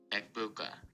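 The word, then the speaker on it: Egbuka: Eggbuka. That says egg. Yeah, but he is from Ohio, so I do have reason to say I think he's probably correct. Um, the name Eggbuka is pronounced with a silent G.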